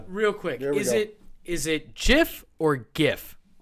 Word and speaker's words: GIF: let's give gift right you would think well apparently it's jiff leave it at that